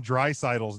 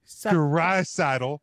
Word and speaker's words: Draisaitl: Well, I am impressed that he did get Leon Draisaitl's name pronounced correctly. He practiced it while he was giving the time he said, he's like, Draisaitl.